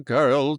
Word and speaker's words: girl: Wully was half asleep himself when he heard him saying, "If we knew the girl to ask, we might learn something." Girl, when he pronounced it, rhymed with peril.